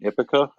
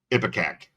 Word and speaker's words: Ipecac: kudos to Mike Patton and Ipica. How do you say it? Ipecac.